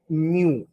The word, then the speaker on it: mu: निकाल देना, तो ये म्यू होता है। क्या होता है? म्यू, म्याऊ नहीं, म्यू, म्यू ऐसे, रेड लाइक दिस, मुंह मत पढ़ना इसको ना।